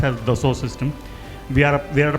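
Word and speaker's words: Dassault Systèmes: While it is written as the sword, it's a French name. So it's it's been pronounced as the source system.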